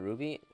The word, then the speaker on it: RWBY: of it though i i think that's how you say it right you don't say you don't say the letters like w like rwby right wise ah you must